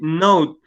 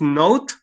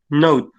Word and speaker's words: note: Well, in this case, the word is note, nota, and you said let's try to be a little clearer in that part, because you say like note, nota, and when you say not, it's because you are denying something, okay? Están haciendo una negación ahí. So it's note.